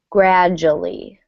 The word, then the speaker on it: gradually: pronunciation note is that the D and you kind of almost make a J sound gradually you really don't hear